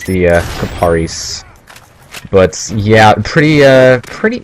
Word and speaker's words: Kiparis: gun and i used to thought it was pronounced tipperis but i looked it up and it's the uh caparies but yeah pretty uh pretty it's a decent